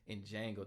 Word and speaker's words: Django: in the Django where Django the D is silent.